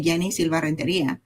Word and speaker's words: Yeni Silva: A lot of people try to change the way they pronounce the name depending on where where they are. I say it I say Yenni Silva.